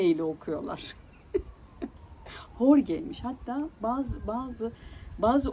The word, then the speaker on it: Jorge: H ile, yani J'yi H ile telaffuz ediyorlar. Şimdi İspanyolca zor bir dil. Belki de kolay, bilmiyorum. Yani İspanyolca ile ilgili bir fikrim olmadığı için. J'yi niye H ile okuyorlar? Jorge'ymiş.